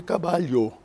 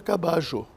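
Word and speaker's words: caballo: l l o certo o espanhol em Madrid el cabalho mas se você for Argentina a mesma grafia é lida cajo percebe em outros lugares a pronúncia Será diferente em alguns lugares é cabayo em outros lugares é caba até se se eu posso estar errando nessa última mas você tem várias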